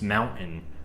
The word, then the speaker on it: mountain: The thing with the Colorado accent that mainly throws it off is that we tend to pronounce anything with a T-A-I-N in its spelling, like certain or mountain. Like we just kind of cut that out. The way I pronounce it is mountain or certain.